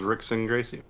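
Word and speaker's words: Rickson Gracie: name right yes please the r is pronounced like an h go ahead i'm waiting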